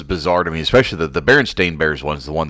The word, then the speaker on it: Berenstain: that it was ever berenstein it was always berenstain and the family itself is barren stain not berenstein or stein or whatever however you wanted to pronounce it back then which i